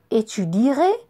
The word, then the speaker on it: étudierai: Par exemple, il y a quelques verbes qui gardent la lettre E au futur, mais on ne l'entend pas. Étudier, étudierai, diminuer, diminuerai, louer, louerai, créer, créerai.